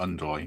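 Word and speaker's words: Ndoye: Matt in the chat says says we're saying it wrong. It's Doy, not Undoy.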